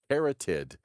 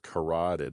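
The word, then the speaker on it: carotid: about the uh kurateed it's a keratid is how it it looks keratid but it's it's pronounced corateed I I guess artery in our necks.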